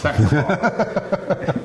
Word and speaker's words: Saxapahaw: to the smack dab in the middle of Saxapahaw. Yep. To the Haw River Farmhouse Ales and say hello to Ben and Dwan. Saxapahaw. No, it's Saxapahaw.